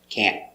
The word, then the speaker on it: can't: But the most common is with the stop T with the tongue up can't.